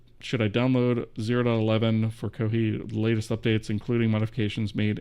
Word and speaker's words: Kohi: No, it's it's Kohi as in the Japanese pronunci pronunciation of coffee.